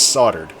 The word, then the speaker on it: soldered: they're soldered soldered soldered it's always such a weird weird word i think that's soldered but it's spelled soldered ah now as there's